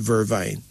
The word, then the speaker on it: vervain: somewhere s-k-u-l-l-c-a-p vervain v-e-r-v-a-i pronounced as vervain but we call it vervine peppermint a herb named